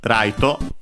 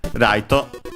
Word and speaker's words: ライト: In Japanese, raito. Of course, because there isn't a sound L in in Japanese, so it becomes R. raito, accented luckily on the expected syllable, so raito.